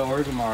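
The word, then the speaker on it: Orgrimmar: If it wasn't for people on Ventrilo, like I completely butchered it in my head. And then we're on Ventrilo and they're like, all right, we got to go to Ogrimmar. And I'm like, huh, that's how you say it.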